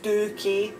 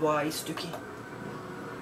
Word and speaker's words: stookie: that just a cast um so it's it's pronounced stokey s-t-o-o-k-e-y stookie 46 is a swally you're going for a